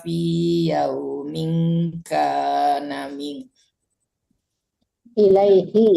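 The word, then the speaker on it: إليه: Ta'rujul malaikatu warruhu ilaiha fi yaumin kana min. Ilaihi ya, bukan ha.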